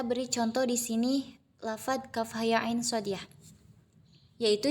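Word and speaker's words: كهيعص: Kaf itu dibacanya enam harakat. Kemudian ha dibaca dua harakat. Kemudian iya dibaca dua harakat. Lalu kemudian ain itu dibaca enam harakat. Kemudian shod dibaca enam harakat. Jadi, pelafalannya seperti ini. Kaf ha ya ain shod.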